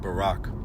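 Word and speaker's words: ברך: and ka together make barak pronounced ounced Barack or ni which is also bless as well.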